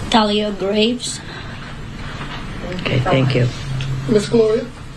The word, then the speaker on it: Thalia Graves: Do you want to pronounce her name? Thalia Graves.